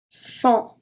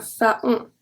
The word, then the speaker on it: faon: When AON is at the end of the word, we are going to pronounce it as on. We don't say AON, we say on. Un, fond, fond. Un, fond. So I don't say un faon, faon. I say un fond.